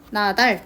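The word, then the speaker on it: 낱알: 티읕 나트로라고 발음을 하지만 R이 붙으면 R은 어근이고, 어근이라는 거는 뜻이 있다는 뜻이에요. 자, 그렇기 때문에 나달 디귿으로 바꾼 다음에 연음을 시켜준 거죠.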